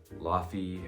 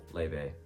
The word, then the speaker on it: Laufey: head back DeMarco Le or some people also pronounce it like ly or Luffy um but before you come at me on